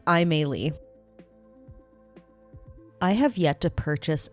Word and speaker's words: Aimee: I was probably going to say Amelie, but it's Aimee.